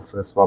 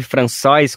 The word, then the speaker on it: François: Se escreve François com C cedilha, né, tem essa pronúncia francesa, Muleca com K, né,